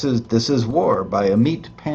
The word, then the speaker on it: Amit: by a meat Pandy a meat spelled m AIT T not a m a t like you know roast beef is a meat no sounds like that but it's spelled meit t so votes are done